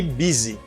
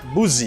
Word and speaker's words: busy: too disappointed i'm pretty busy you say busy not boozy you say busy and